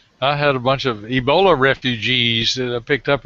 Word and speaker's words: Ebola: If you hear the African pronunciation, because it's A with a very deep A, and then they roll the L, so it's Ebola. Well, it's a big It's river. deep in your throat, Ebola.